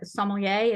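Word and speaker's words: sommelier: Marco killed me because I never pronounced it correctly but somier is that how you say it yeah that's right we are um doing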